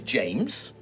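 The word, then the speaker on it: Jyames: to find out now the name is James James James but it's spelled j y a m e s James James James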